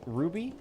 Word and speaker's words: RWBY: I if you guys have never seen Ruby, when I say Ruby, I don't mean like the the gemstone. It's It's spelled weird. It makes sense if you have seen the show, but it's by Rooster Teeth, RWBY.